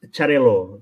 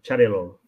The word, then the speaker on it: Xarel-lo: it in in spanish is is no is charilo charlo in spanish in catalan is charaleux is quite similar but finnish in oh or